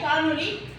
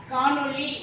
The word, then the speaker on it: காணொலி: அப்போ காண்பதும் கேட்பதும் தானே காணொலி. நம்ம காணொலின்னு படிச்சுட்டு இருக்கோம். பல பேர் காணொலின்னு படிச்சுட்டு இருக்காங்க. ஒரு சிலர் காணொலின்னு சரியா எழுதவும் செய்கிறாங்க. நம்ம புத்தகங்களில், பல புத்தகங்களில் காணொளி அப்படின்னு தான் இருக்கு. நமக்கு காணொலிக்கும் வேறுபாடு இருக்கு. தமிழை சரியாக உச்சரித்து சரியாக பயன்படுத்தி மொழி காத்து இனம் காப்போம்.